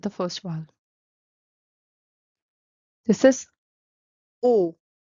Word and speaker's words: ओ: first vowel this is o o the pronunciation is very similar to the English uh vowel o and it's o as in omnipotent O O and uh the way to write it is follows.